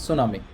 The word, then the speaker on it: tsunami: T is silent. It is not to tsunami. It is tsunami.